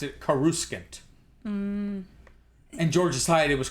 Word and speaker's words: Coruscant: I think Timothy Zahn was like, when I wrote it, in my head I pronounced it Coruscant. And George decided it was Coruscant.